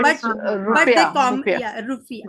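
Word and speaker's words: rufiyaa: they call it as rufia or something like that, I think so, rufia bolte Yes, hain, ma'am. हाँ It's हाँ हाँ हाँ but they rupiah. Rupiah. yeah, rufia, हाँ।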